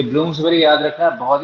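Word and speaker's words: Bloomsbury: तो आंसर हो गया सी, ब्लूम्स बेरी बोलते हैं इसको, बरी नहीं बोलते हैं ना, प्रोनाउंसिएशन में बेरी हो जाता है, स्पेलिंग बरी लिखा जाता है।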